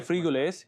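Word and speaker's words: frijoles: Frigues. Yes, it is said like that because they pronounce J as H.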